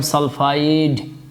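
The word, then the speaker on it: sulfide: ফেট লাস্টে কিন্তু এট উচ্চারণ হচ্ছে, এট, ট। আপনাকে ভালো করে খেয়াল করতে হবে ট আর ড এর পার্থক্য। যখন কোনো যৌগমূলক থাকে না বা এরকম অক্সিজেন নেই তখন কিন্তু ট উচ্চারণ না হয়ে ড উচ্চারণ হবে।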